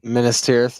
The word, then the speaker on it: Minas Tirith: If you're reading this, save money for, I don't know how to pronounce it. Minas Tirith, yeah.